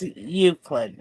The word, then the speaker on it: Euclid: It's pronounced Euclid, and I know that because I understand the English language.